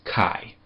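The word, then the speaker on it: καί: When you have these two together, it makes a long i sound as inle. And a fairly important word and a very common word in Greek that ha that has this dip thong in it is kai.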